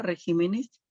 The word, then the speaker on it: regímenes: pero cuando observamos y vemos régimen is ahora regímenes no está conservando en la misma sílaba la tilde ahora cambió de posición entonces aquí estamos frente